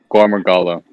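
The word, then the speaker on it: Gore Magala: How does it pronounce, Lou? Gormagala.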